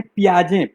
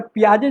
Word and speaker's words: Piaget: उसका नाम है पियाजे, PIAGET। मेरा उच्चारण ठीक नहीं है इसलिए स्पेलिंग बता रहा हूँ।